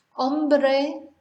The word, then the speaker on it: hombre: Hombre, man. Hambre, hunger. Hombro, shoulder. So they couldn't be much more different, really. So remember not to pronounce H.